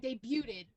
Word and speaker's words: debut: Vince saying debuted. The T in debut is silent.